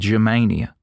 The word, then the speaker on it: Germania: The word Germany in Greek is said Germania, close enough to the English pronunciation.